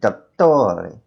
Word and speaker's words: dottore: If there's a double letter, you just pronounce it, you hold it for a little bit longer.